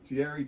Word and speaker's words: Thierry: That's the right. T is silent. That's So right. Thierry Chenko.